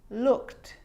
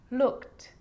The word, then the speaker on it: looked: it's own syllable but a lot of the time that e isn't pronounced looked just played baked rapped now they could be a little bit tricky so let's do it again looked asked played baked rapped